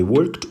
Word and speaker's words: worked: Preposição, um ED bem pronunciado, sem o som desse E aqui, ó. Você só fala worked. Você pulou do K para o som do D.